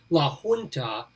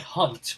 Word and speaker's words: La Junta: places in colorado sorry people pronounce it all different ways it should probably be la junta but like everything else when colorado must get a hold of a name it's like hunt more like it art is on the